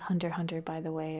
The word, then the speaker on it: Hunter x Hunter: know that that's pronounced hunter hunter by the way apparently the X is silent but I like to